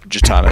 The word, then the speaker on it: Jitana: Yep, Jitana is how you pronounce it.